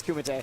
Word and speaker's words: Kumite: No, it's Kumite. Kumite? I've been pronouncing it wrong for like at least a year.